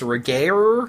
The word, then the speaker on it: Regehr: Yeah, Duncan, I believe that last name is pronounced Regehr, plays Dracula, and he's pretty badass in this movie.